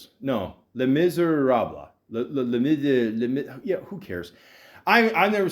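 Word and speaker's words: Les Misérables: Les Miserables. No, Les Miserables.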